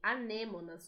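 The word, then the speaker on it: anémona: EA tartaruga de lama anêmona é o mesmo nome anêmonas só muda um pouquinho a maneira como se pronuncia né em espanhol anêmona em português a Nemo Oi Yasmim medos as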